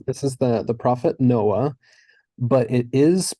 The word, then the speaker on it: Noah: well but we um anytime that we're having the sound at the end of a word if it carries the vowel after it the vowel is actually pronounced before it so it's confusing but we'll get there so this would be pronounced no ah so my prophet song